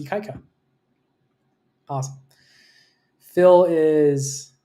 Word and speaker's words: Ikaika: You actually spell it out. Ikaika. Right? So it's Ikaika.